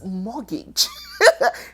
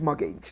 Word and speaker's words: mortgage: Hey, ladies and gentlemen, it is mortgage. The T is silent.